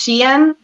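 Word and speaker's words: Shein: an issue with um I called it Sheen at first but it's pronounced Shen the clothing one I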